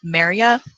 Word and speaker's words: Merja: But so I have an eagle female named Maria. That is spelled Merja. But the J is pronounced as a Y.